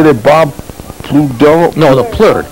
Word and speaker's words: Plourde: And that's, how do you say that, Bob Plourde? No, the Plourde. Plourde.